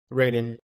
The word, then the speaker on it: Reden: or like cultural influence like how do you pronounce your first name Raiden what does Raiden want to do with this